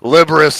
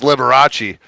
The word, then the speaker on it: Liberace: drink now because of how badly i just pronounce that liberus and it's liberace all right i mean